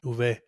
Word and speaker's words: uve: But yes, how do you say V in Spanish? I don't know. Uve. That's how you say it.